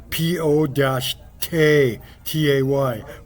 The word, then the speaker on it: Pote: The new name for this force, the security force will be called the Pote, pronounced P O- T A Y Potay.